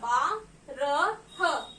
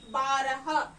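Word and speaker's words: बारह: And I call the number 12 in Hindi as Ba ko aki matra ba, ra, ha, barah. And I am going to mention it as BAARAH, barah.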